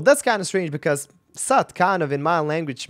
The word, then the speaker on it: Soot: I mean, the thing that I had in mind was like S-O-O-N, like soon. So logically, you know, suit or something like that. But no, Soot.